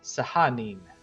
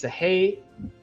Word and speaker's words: Sahanin: Anton found an interest in the other shrine, and it is pronounced Sahanin. It's Sahanin. Sahanin. That's how you say it.